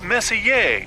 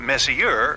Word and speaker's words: Messier: stands for Messier pronounce Messier not Messier as in is your room messier than mine Charles Messier I mean